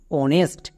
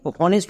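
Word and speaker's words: honest: এইচ ও এনই এসটি অনেস্ট আমরা কিন্তু এই ওয়ার্ডকে হনেস্ট উচ্চারণ করবো না আর একটি এক্সাম্পল দেখ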